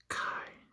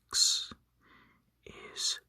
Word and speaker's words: xi: So, I have heard people pronounce this as xi or kai, and I think because it's so similar to other things, I honestly think just x is a little bit better of a pronunciation, kind of like the word or the letter X in axe.